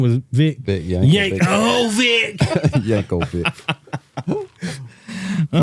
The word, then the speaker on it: Yankovic: how do you pronounce his last name Yankovic Yankovic yeah can you spell it I can yeah go ahead go ahead